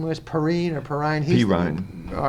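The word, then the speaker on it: Perine: Perrine.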